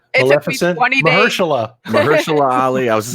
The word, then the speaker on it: Maleficent: I say Maleficent. No, you said it right. Maleficent.